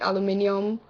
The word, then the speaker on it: aluminium: mayonnaise pajamas cart naturally it's spelled aluminium here and in that case when I'm reading it I'd usually pronounce it aluminium but when I'm in common conversation and I mention like a can a SoDo it's aluminum is how I normally say it uh JF Tumblr Cracker